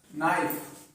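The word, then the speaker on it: knife: देखते हैं वाइफ leaf नाइफ देखि अगर एन के पहले के आता है तो के साइलेंट रहता है ए आया य पर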